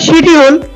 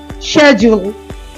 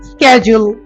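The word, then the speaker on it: schedule: শিডিউল, শিডিউল, ও বলছে এটা শিডিউল। এটা দুইটা অ্যাকসেন্টে উচ্চারণ হয়। ব্রিটিশরা একরকম উচ্চারণ করে, আমেরিকানরা একরকম উচ্চারণ করে। ব্রিটিশরা বলে শেজুল, শেজুল, শেজুল, শেজুল।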